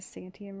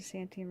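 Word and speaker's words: Santiam: wrong for a week this is the santium river and i was saying it was the santee and river of the clackamas oh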